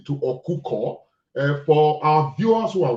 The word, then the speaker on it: Okukor: But the right pronunciation is actually Okukor.